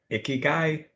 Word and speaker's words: Ikigai: Ikigai, it's Japanese concept for making Japanese concept meaning